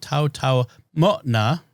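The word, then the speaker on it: Taotao Mona: The apostrophe is a glottal stop there, so it's Tau Tau Moana. Although it's not always pronounced.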